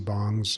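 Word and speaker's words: PC bang: I know they're still very popular in Korea with the PC bongs or is that how you pronounce it?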